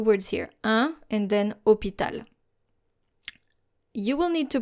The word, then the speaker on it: hôpital: not with the H, because the H is basically invisible here. Un hôpital. Un hôpital.